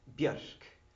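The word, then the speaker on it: Björk: from the birch tree with Icelandic pronunciation Buick is birch in Icelandic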